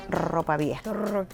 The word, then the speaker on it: ropa vieja: I would love to say it like you. Ropa vieja. I got to get lessons. But you have to do it with the action, with an attitude.